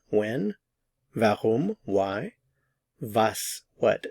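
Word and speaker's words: was: van when vum why vas what notice the pronunciation of the W in all of these three van vas in this lesson we are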